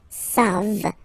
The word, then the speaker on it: savent: Here, classic ending for il and L at the plural form, E-N-T. You don't pronounce it, so you get the sound savent, v-v-v-v, savent.